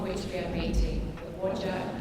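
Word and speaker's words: Whadjuk: The word beginning with W there is pronounced Wajak, and the N word is pronounced Noongar.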